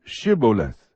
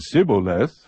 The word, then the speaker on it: shibboleth: would say to him say now shibboleth but he said sibboleth for he could not pronounce it correctly Then They seized him